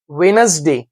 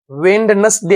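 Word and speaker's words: Wednesday: Sunday रविवार, Monday सोमवार, ट्यूसडे मंगळवार, वेनसडे वेंडनसडे असं वाचायचं नाही, याला डी सायलेंट येतं.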